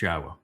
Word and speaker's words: Yahweh: The pronunciation of it is exceedingly easy to deduce. It's based on the verb haya. Haya tells you how to pronounce 3 of the 4 letters.